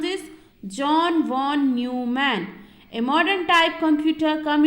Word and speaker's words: John von Neumann: Okay, so how you have to pronounce this? John von Neumann.